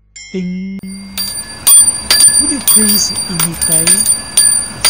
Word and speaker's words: 丁: The sound ding is the pronunciation of this character.